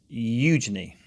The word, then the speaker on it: Eugenie: Yeah, so what's the correct pronunciation? It's Eugenie. I think you did it right. Eugenie.